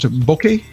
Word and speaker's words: bokeh: We've got Bokeh, I've been told is how it's pronounced, Bokeh.